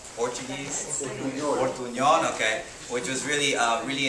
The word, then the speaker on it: Portuñol: Portuñol, okay.